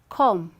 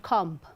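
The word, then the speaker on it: comb: just after m right where the word ends with the letter b just after m b is silent so there's someone who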